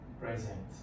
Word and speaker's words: present: So present. The stress is on the second syllable.